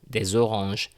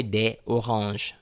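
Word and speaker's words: des oranges: zebitude de se lima we have this sound des orange don't say de orange well it sounds a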